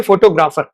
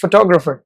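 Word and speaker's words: photographer: देखो इसको लोग बोलेंगे फोटोग्राफर, फोटोग्राफर ऐसे बोलते हैं लोग, ठीक है, बट यू आर not suppose to pronounce it like that, it's फोटोग्राफर, फोटोग्राफर।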